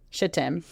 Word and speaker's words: Shittim: and Tim that's exactly how it's spelled shittim go look over the land he said especially